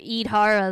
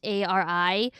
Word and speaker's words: Yidhari: But Idhara, though, I think that's how you say her name. It's Yidhari.